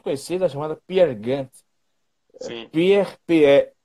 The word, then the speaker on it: Peer: Pierre, porque ele é norueguês, né? Então, P-E-R, Gynt, tem essa pronúncia do A, mas é G-Y-N-T.